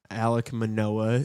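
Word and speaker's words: Alek Manoah: Alec Manoa is how you pronounce his name.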